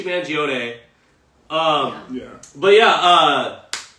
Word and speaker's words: Mangione: name man I think manag Luigi moong gone yo yo okay I used to work for Italian company so I'm pretty sure Luigi manone um yeah but yeah